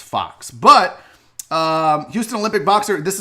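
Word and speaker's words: Fuchs: spelled fu CH s so it looks like folks but it's Fox and I have family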